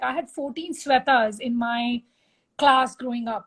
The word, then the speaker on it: Sweta: mine all the shwetas I'm a sweater actually and there's there's some difference like Salve is always so they're different pronunciations but I guess I'm the only one without an H uh like when I introduce myself to my American friends here I say it's like a sweater without the r and then they